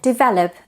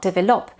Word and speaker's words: develop: foreigners and number seven developed and development so it's not develop but the stress is on the second syllable develop and development as